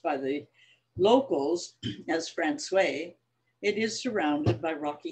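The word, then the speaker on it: François: only by water it's called francois although it's pronounced by the locals as francois it is surrounded by rocky hills as we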